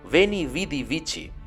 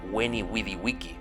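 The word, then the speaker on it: veni, vidi, vici: pronunció su famosa expresión Ben y Bidi bici Bueno en realidad se pronuncia When y Willy wiki en latín clásico Solo que él la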